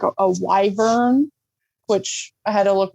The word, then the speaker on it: wyvern: kind of like a kangaroo or like a wyvern, which I had to look what a wyvern was because I didn't know what that was. A But wyvern? it's a wyvern.